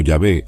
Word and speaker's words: Yahvé: realidad y a hh Generalmente pronunciado como yahvé o Jehová este nombre revelado a